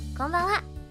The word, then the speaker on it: こんばんは: But when you pronounce it, こんばんは, it sounds kind of like a wa.